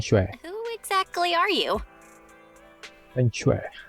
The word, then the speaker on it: feng shui: Feng shui. That's how you pronounce it.